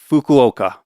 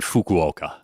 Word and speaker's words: Fukuoka: that syllable in Japanese. It's not really an F sound like it is in English. It almost sounds a little more like you're just kind of blowing out air like H.